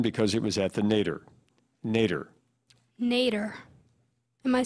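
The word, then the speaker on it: nadir: Nader.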